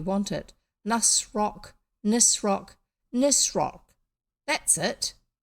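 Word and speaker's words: Nisroch: know why you want it nus rock nissrock nissrock that's it spelt with a ch at the end then anthea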